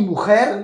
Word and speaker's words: mujer: Attention à la prononciation. Mi mujer.